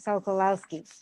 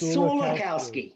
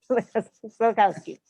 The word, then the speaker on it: Sulikowski: It's Sulikowski. Sulikowski, Sulikowski. like a silly cow. Now you say it that way. Okay, Sulikowski.